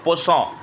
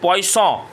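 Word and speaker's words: poisson: उ फरेन उ फरेन पस पस ही बोल बोते हैं कोई कोई पॉइस भी बोलते हैं ये प्रोनंसिएशन है एक्चुअली स्पेलिंग याद रखने के लिए पॉइस इज the correct pronunciation इसका मतलब मछली अब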